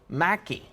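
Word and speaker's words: Mackay: And then we said it wrong. It's actually Mackie.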